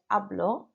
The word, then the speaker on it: hablo: Number 5, I shouldn't have pronounced my H. So I should have said hablo.